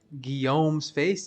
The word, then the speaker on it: Guillaume's Face: This build has 100% Crushing Blow, 100% Deadly Strike due to the High Lord's Death and Guillaume's Face. Yes, that's how you pronounce it.